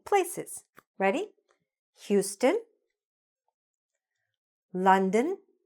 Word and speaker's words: London: "Houston", "London". Were you pronouncing the name of that famous city properly all this time? I hope so, because there are a whole lot of people who were not, and now you are for sure.